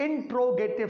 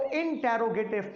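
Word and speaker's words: interrogative: Sentence number 4 इंट्रोगेटिव sentence. इंट्रोगेटिव, इसको इंटेरोगेटिव pronounce नहीं किया जाता, इसको इंट्रोगेटिव प्रोनाउंस किया जाता है, राइट।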